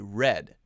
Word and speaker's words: read: In the past tense, it's pronounced exactly the same as R-E-D, read.